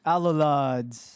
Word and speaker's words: Alolod: Alulads.